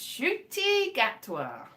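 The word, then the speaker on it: Ncuti Gatwa: still patrick trotton but yes it is it's pronounced shooty gatwa believe you me kion that is how well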